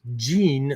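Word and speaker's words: 神: So not the same shin, often pronounced jin, like people are used to seeing in Bujinkan, right?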